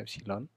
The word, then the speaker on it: epsilon: Sama-sama memiliki satuan volt, sehingga ya dapat dikatakan juga walaupun ini lambangnya E, ya, epsilon, bacanya epsilon, yang ini lambangnya V, kedua ini dapat dianggap adalah sama-sama beda potensial, ya.